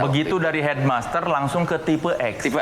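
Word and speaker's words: Tipe-X: Jadi filosofinya kan, ini kan tulisannya tipe X, jadi harus bacanya tipe X. Tipe yang beda dari yang lain.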